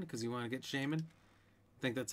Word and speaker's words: Shaymin: y m i n shea like the butter i'm probably probably not correct and min like minute i don't know yeah